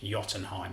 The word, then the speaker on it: Jotunheim: me saying this unit is named Jotunheim with a silent J apparently named after Giants